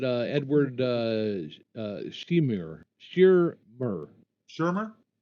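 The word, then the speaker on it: Shearmur: They didn't put any credit to the first one, but uh, Edward uh, uh, shemer Shurmer Shurmer is how you say that. S H E A R M U R Shurmer.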